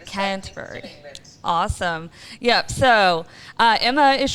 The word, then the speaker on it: Canterbury: We have Emma all the way in, how do you pronounce the name of your town? I am currently in Canterbury. Canterbury.